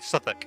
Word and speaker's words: Southwark: Southwark is not even pronounced how it's. Oh, so it's actually Southwark. Southwark. There we go. Yeah, sorry, Southwark.